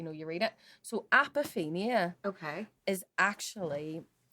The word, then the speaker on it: apophenia: and pronounce it um apop apia apia so close yes the the word is apophenia apophenia okay I don't so